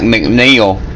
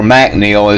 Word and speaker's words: MacNeil: The fact that this came from Scotland means a lot to me too, because with a name like McNeil or MacNeil as it's pronounced over there, where else could I be from except maybe Ireland?